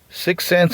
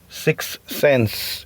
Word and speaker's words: SickSense: Sixth Sense is spelled sick. SICKSENSE. Sixth Sense. It's not like Nikki Six SIXX. It's not like that. So it's sick, like if you're feeling sick, and then sense.